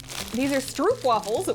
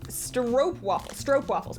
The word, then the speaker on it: stroopwafels: Oh, these are stroopwafels, which I promised I would try. Oh, pronounced stroopwafels, pardon me.